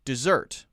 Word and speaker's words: dessert: And then when we pronounce it, we say dessert. But if the first one, D-E-S-E-R-T, is a verb, we pronounce it in the same way as D-E-S-S-E-R-T, dessert.